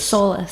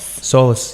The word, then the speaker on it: SÒLAS: we're and luxury accessories so how do you pronounce solace solace solace yeah okay so it's a Gallic words it